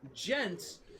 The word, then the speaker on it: djent: Gent. What is gent technically short for?